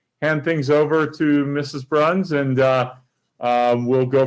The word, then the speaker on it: Brauns: meeting and people mispronounced our last name it's pronounced bruns and as a result now he has a